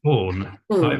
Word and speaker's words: Baughen: interview with is that how you pronounce it it's born born again yeah born again oh marvelous or